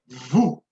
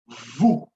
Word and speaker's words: vous: Vous. Vous. So same case here, I will not sound the S.